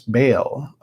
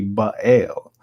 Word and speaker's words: Baal: a god who was described in the bible as baal but the spelling of it and the pronunciation of it should be ba el so it was actually